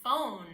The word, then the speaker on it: phone: PH actually makes it sound like an F. Like in the word phone, I can phone you. PH says F.